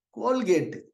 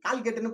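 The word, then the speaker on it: Colgate: கோல்கேட். கோல்கேட் இல்லையா? கோல்கேட்டு நம்ம ஊர்ல யாருக்கு தெரியாது? ஏதாவது ஒரு ஊர்ல, ஏதாவது ஒரு கிராமத்துல கோல்கேட் தெரியாதவங்க இருக்காங்களா? தப்பா ப்ரொனவுன்ஸ் பண்ணிலாம் நான் பார்த்திருக்கேன். ஊர்ல கால்கேட்னு சொல்லியிருக்காங்க. எல்லாருக்கும் கோல்கேட் தெரியும்.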